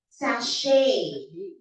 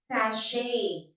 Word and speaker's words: sachet: Okay, now words with ch spelling but sh pronunciation. Chandelier, Chicago, sachet, sachet, sachet.